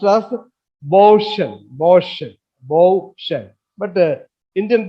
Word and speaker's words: boatswain: So yesterday I told those who are present, actually it's pronounced as Boshen. But Indian pronunciation is it is allowed boatswain.